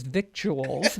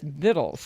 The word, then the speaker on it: victuals: and it's called viddles we look at it and think it says victuals but it's viddles that's how it's said so we're going to